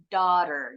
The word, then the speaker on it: daughter: Bukan tapi kalau orangggis kalau orang Amerika bilangnya daughter jadi bunyi aunya lebih a a kalau orang Inggris lebih monyong o o dan huruf r terakhirnya enggak bunyi Nah kalau kalian nanti